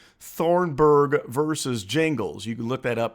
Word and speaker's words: Gingles: case called Thornburg versus Jingles. You can look that up. It's Gingles. I think it's pronounced Jingles.